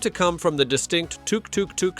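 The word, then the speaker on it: tuk-tuk: come from the distinct touk tuk tuk sound of its engine. A kind of cute sputtering purr that stuck around. In Thai, the pronunciation even falls somewhere between a t and a d, giving it its quirky charm.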